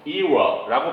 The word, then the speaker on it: era: who welcome the new era of medicine. 의학의 새로운 시대를 이거 era라고 발음하게 되고 era 이렇게 발음해도 돼요.